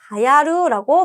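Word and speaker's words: 流行る: 자 온나가 여자가 스고크 하야이마스요네 스고크 매우 굉장히 자여 유행이라고만 쓰여져 있으면 류코라고 발음하겠지만 여기 으때가 나와 있죠. 그래서 하야루라고 발음하셔야 됩니다.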